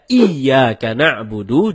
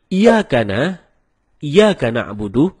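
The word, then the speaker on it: إِيَّاكَ نَعْبُدُ: Kalau kita baca Iyyaka na'budu dengan menekan huruf ya, maka artinya menjadi kepadamulah kami menyembah. Kalau membaca tanpa tekanan seperti Iyyaka na'budu, maka artinya kepada cahaya matahari kami menyembah.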